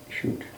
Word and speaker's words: chute: C-H-U-T, or how do you spell that type of chute? C-H-U-T, I think. C-H-U-T, chute.